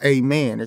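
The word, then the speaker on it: Amin: he talked about the process was that no amen amen I mean it's Amen oh that's how you pronounce it amen Joseph yeah oh my bad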